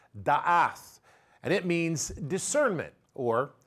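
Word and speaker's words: דעת: Now, the word knowledge in this particular verse comes from the word pronounced da'ath, and it means discernment or spiritual understanding and perception.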